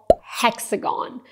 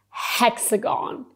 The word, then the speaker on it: Hexagon: Well, it's actually really easy It's called "Hexagon" Make sure you do pronounce the "H" "Hexagon" Do you know any other shapes?